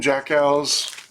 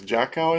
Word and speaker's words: Jackiw: name is Tim, and his last name is spelled Jackiw. So it's kind of interesting. It's Jackow, I think.